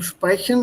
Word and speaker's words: sprechen: And a couple of small things, like I said, SP im Sprechen und ST im Streiten. They are pronounced with an sh sound.